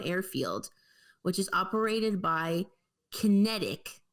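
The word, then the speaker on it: QinetiQ: which is operated by Kinetic, but Kinetic is spelled Qinetic, Ooh.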